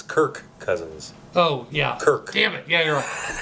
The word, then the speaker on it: Kirk Cousins: Matt Oh her cousin Kurt's cousins yeah it's kirk cousins oh yeah Kirk Hammett yeah why what's going